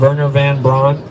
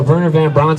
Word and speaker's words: Werner von Braun: So an SS officer of the Nazi regime by the name of Werner von Braun, it's spelled with a W, you pronounce V because they're German.